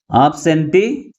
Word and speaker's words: absentee: But which syllable is pronounced with greater force? That is, last syllable is pronounced with greater force comparing with other syllables. That is T.